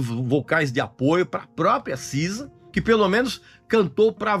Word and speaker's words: SZA: show da Sisa né que Sky sza mas se pronuncia Sisa e ela foi recebida